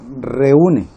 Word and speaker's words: reúne: La palabra reúne. ¿Cuántas sílabas tiene la palabra reúne? Re, u, ne. Tiene 1, 2 y 3 sílabas.